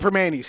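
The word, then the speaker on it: Primanti's: They call it Permani's here.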